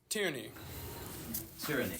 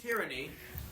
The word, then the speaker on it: Tierney: Well, My name is Tierney. Tyranny. spell That's that. Tierny. Interesting. Awfully Tierney. strange name. T-I-E-R. T-I-E-R. Like Tierney. Voice is so N-Y. Tierney. No, tyranny. I thought you said tyranny. Oh no, Tierney.